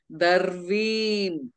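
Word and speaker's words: दर्वीम्: Darveem. Refa should be pronounced. V should be pronounced. Makara should be pronounced.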